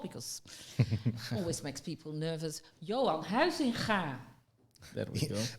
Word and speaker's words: Huizinga: Johan Huizinga. There we go. With the ga.